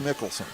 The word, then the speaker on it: Michelson: Michelson for the Monarchs. They told me that was pronounced Mickelson.